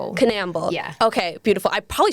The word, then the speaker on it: Canal: It's Canal. Canal.